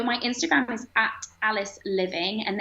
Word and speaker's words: Liveing: So my Instagram is at Alice Living, and there is an E in there, but it's pronounced Living.